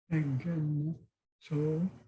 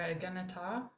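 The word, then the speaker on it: ἐγένετο: Try to pronounce it. Egeneto. Egeneto, or egeneta.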